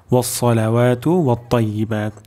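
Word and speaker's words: والصلوات: উচ্চারণ হয়ে যাচ্ছে তো আমাদের এখানে সদ উচ্চারণ করতে হবে ওলাওয়াতু আততাহিয়াতু লিল্লাহি ও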